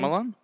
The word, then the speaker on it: Shyamalan: Shyamalan. Shyamalan, yeah.